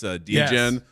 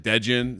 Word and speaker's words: D-Gen: by Fiverr where they didn't know how to pronounce D-Gen. Yes. They pronounced it Degen.